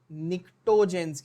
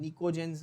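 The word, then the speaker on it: pnictogens: में एरर हुई है, आप लोग करेक्ट स्पेलिंग लिख लेना, निक्टोजेंस कहते हैं, निकोजेंस नहीं, निक्टोजेंस ग्रुप 15 के एलिमेंट्स, सीधा फैक्चुअल है, याद कर लो।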